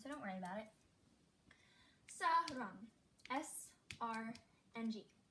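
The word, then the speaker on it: 사랑: Sarang. S-R-N-G. And see, this is at the end of a syllable, so it is the NG sound.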